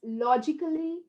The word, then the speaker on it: logically: to pronounce this yeah do you say logically musically professionally no it's a goes silent a goes quiet it knows when to go quiet okay so where does it